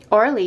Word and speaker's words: Orly: Orly.